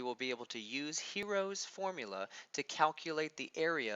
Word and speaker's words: Heron: looks like it's spelled Heron or pronounced Heron but is his name is pronounced hero heroes formula is the